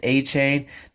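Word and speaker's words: Achane: me how to say it right Devin McCain a chain a Kane 18 Devin a chain dude is only two inches three inches taller than me but he's a surprisingly 188.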